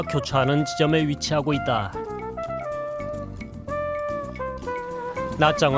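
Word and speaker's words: Nha Trang: 교차하는 지점에 위치하고 있다 나짱 은 베트남 전쟁 당시 한국군이 아전 사령부가 자리잡았던 곳으로 우리와의 인연이 재법 기분 것이다 그런 연유에서 인지 우리에겐 나정이 라는 이름보다는 영어식 발음인 나트랑 으로 더 알려져 있기도 하다 인구 30여만 의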